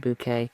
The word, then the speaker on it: Bucket: Bucket and well no it is Mrs. Bucket but she pronounced Mrs. Bouquet in the it in